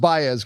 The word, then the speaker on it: Baez: The young defender, it's pronounced Baez, correct?